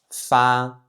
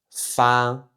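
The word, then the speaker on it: 发: On va continuer donc avec l'initiale F qui encore une fois se prononce comme en français et on va enchaîner donc avec le caractère fa, fa, fa.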